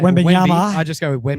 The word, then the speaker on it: Wembanyama: Everyone just keeps talking about this big, pronounce his name. Wembanyama. I just go with Wembyama.